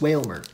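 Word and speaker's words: Wailmer: I keep saying it's Whalmer. It's not Whalmer. It's Whalmer.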